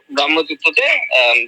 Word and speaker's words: ব্রাহ্মতীর্থ: এক মাস মগ্ন, মাস কলায় ডুবে এরকম জল ব্রহ্মতীর্থে যারা পান করতে হবে। উচ্চারণটা ব্রহ্মতীর্থ নয়, ব্রাহ্মতীর্থ।